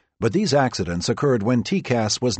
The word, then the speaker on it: TCAS: Traffic collision avoidance system, TCAS, pronounced TCAS, gives pilots a graphic on-screen representation of nearby aircraft.